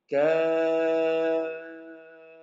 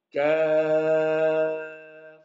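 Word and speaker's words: كاف: Sehingga ketika kita membaca kaf, maka fa-nya itu harus diucapkan dengan mendatangkan sifat hamas dan rokhawah. Jangan kita baca seperti ini. Kaf, kaf. Nah, fa-nya seperti terpotong. Harus kita keluarkan udaranya. Kita alirkan. Nah, seperti itu.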